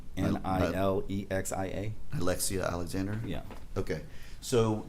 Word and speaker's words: Nilexia: I don't know how to pronounce his name. Nilexia.